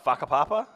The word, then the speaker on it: Whakapapa: Remember, WH is an F. Oh, okay. I was saying it looks like Whataburger. So Whakapapa? That is correct.